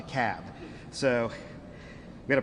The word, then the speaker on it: Cobb: the room it's the cab not the cowb not the cob it's the cab so we got to pronounce these things doherty another one of those where albini is they're 74.